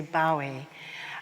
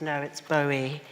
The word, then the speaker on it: Bowie: and some people say bow II I think my generations say bow II although Paul Morley who who is the expert on Bowie says no it's Bowie and it rhymes with Zoe which was his son's